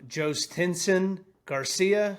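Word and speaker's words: Jhostynxon Garcia: Um, Joe Stinsen Garcia, if you didn't know, that's how you say his name. I have it written phonetically on the outline this week so that I didn't screw that up.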